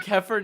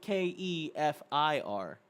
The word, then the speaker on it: kefir: as Kevin right now are you gonna do kefir next Keffer let's do it let's do it